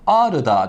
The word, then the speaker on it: Ağrı: örnekle devam edelim mesela Ağrı'da derken a harfimiz den sonra ğ var ğ kullanmıyoruz sildik bir sessiz harf var Yarım Elif miktariyla uzatıyoruz Ağrı diyoruz Daha kelimesi kağıtla ayının